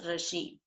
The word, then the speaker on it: regime: of rashim means rule okay rashim it is pronounced as regime rule so what were the features of conservative